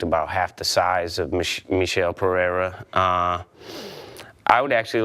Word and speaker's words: Michel Pereira: We called him Michael last week. Yes. We will revise that. apologize. Yeah, his name is Michel Pereira.